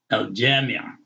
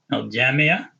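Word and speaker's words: الجامعة: a H sound, but you have to pronounce the ta with the dhamma.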